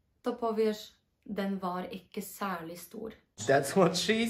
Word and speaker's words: særlig: W sali też słyszycie, że te r znika tak samo jak w poprzednim filmiku w halvåret.